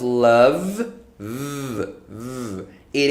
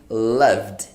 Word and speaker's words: loved: so in this case the ed sounds like a d okay it sounds like a d you are not going to say love it love it love it no that's not right you are going to say loved love loved yes loved